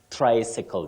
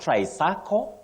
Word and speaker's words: tricycle: word you say tricycle tricycle just like we say bicycle for that which has two wheels but the one with three wheels you say tricycle not tricircle and not what any